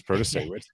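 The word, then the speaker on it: Protasiewicz: Janet Protasewicz, which there's a reason I think she goes by Judge Janet, because that is spelled in a way where you would not have thought it's Protasewicz. It's sort of like, Mayor Pete, right?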